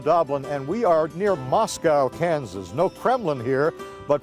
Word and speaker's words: Moscow: Jim Doblin we are near Moscow Kansas or as the locals say Moscow but we're not going